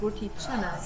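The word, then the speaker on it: roti canai: looks like it's pronounced roti but it's actually pronounced roti chana so when we went to singapore we actually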